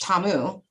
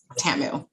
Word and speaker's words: Tamu: know it's interesting because my mother who named me says my name is pronounced tamu but when she gets mad at me i think i told you this she says tamu of course whatever moms